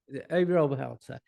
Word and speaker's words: Obi Oberholzer: Your number 4, Obi Oberholzer. Is that how you pronounce it? Obi Oberholzer. Yeah. Obi Oberholzer.